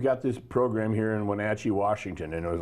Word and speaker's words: Wenatchee: you moved where my dad my dad it's pronounced Wenatchee for crying out loud but you know and